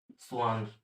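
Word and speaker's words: Schwann: एक तो हमारे पास क्या आए थे, मतलब सेल थ्योरी उसने दी थी, थियोडोर स्वान। स्पेलिंग इसकी ऐसे है लेकिन इसको स्वान बोलते हैं, थियोडोर स्वान।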